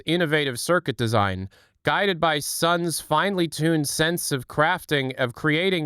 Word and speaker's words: Sunn: Also, it's pronounced Sunn.